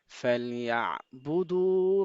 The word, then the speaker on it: فليعبدوا: হুম, তারপর فليعبدوا رب هذا البيت. ফালিয়া, ইয়া, হ্যাঁ, এখানে আইনটা স্পষ্ট সুন্দর করে উচ্চারণ করতে হবে।